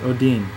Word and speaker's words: Odin: It's pronounced Odin, means one, said Dmitri, holding up a single darkened finger.